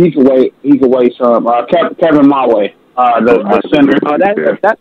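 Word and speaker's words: Mawae: Kevin Mulway.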